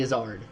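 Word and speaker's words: Izzard: always talk about whenever we get into Eddie isard stuff or Eddie isard which I found out is actually the real pronunciation of his name okay um but his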